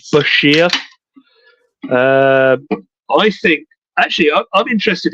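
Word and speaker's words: Bichir: The absolute correct way, of course, is biker. That's got to be the only way you can pronounce it. But yeah, as he put in his book, it's pronounced Bashir.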